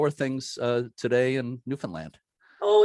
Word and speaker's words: Newfoundland: know a lot of americans tend to say newfoundland but i've been corrected before yeah that it's newfoundland yeah just newfoundland yeah newfoundland okay yeah and i was just